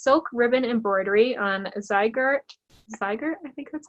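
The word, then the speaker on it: Zweigart: It's silk ribbon embroidery on Zyger, I think that's how you say it? Yes, Zyger, yes.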